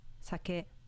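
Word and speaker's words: 酒: on the first mora sake meaning alcohol with no peach accent compare sake example five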